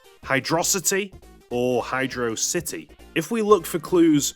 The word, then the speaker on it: Hydrocity: Pronounced as one single word, you end up with Hydrocity, which actually serves as a clever portmanteau, combining hydro and velocity together.